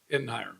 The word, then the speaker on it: Ettenheimer: Ettenheimer. Okay, so he was telling me the other day it's like Spitfire, but I mean that's close.